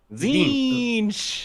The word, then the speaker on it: Tzeentch: I'm gonna cast, and I would love your help with the pronunciation here. Heralds of Tzeentch. Zinch.